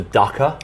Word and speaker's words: Ducker: Do you think I need one of those for Ducker? Yes. Really? Yes. I wanted to say rhymes with fucker.